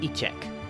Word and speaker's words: échecs: I believe it's pronounced Fédération Internationale des Équis. Gesundheit. That's not... Okay. Sorry. E-check.